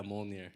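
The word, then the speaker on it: Mjölnir: Yeah, Mjolnir.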